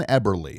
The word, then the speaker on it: Eberle: We're being joined by Dan Eberly.